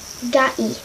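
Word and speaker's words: 개: Now for Korean, it's Gai. Not Gai. G-A. Gai. Gai. It's G-A-E.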